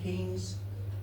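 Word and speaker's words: Keynes: at the back said I know it's spelled K E Y N S but here in the village we prefer to pronounce it Kes is that okay?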